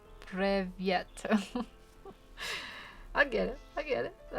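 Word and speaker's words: Привет: Oh, it's pronounced Privyet.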